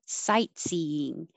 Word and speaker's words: sightseeing: and 22 ache 23 sightseeing i don't release the t i put my tongue in that position cite and don't release it sightseeing stamina detail and